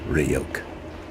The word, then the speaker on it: Ryuk: It's pronounced Ryuk.